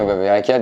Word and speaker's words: Verrecchia: D'ailleurs, on dit Benjamin Verreca ou Benjamin Lemoine? Et donc, t'avais même pas les mêmes lettres là. Niveau prononciation. Oui, bien sûr, Verreca du coup.